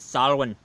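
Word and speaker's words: Samhain: it it spells out Sam Han but we pronounce it Salin it's the old Celtic days old language eh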